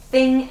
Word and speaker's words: thing: Okay, so the difference here, think and thing both start with that TH sound.